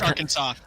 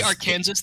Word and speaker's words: Arkansas: It's Arkansas. It's Arkansas. I always forget that. You say our Kansas, they will lynch you there. This isn't a joke, by the way. It's illegal to say it wrong.